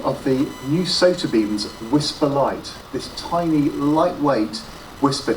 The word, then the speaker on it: WSPR: to say about whisper wspr pronounced whisper stands for weak signal